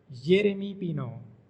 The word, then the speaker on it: Yéremy Pino: The name of this Spanish footballer is pronounced Yéremy Pino.